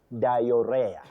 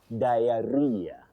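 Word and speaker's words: diarrhoea: Oh, Betty, you'll agree with me that many people, you know, confidently talk of dior dior that is not anywhere in English. You have then diarrhea diarrhea not diar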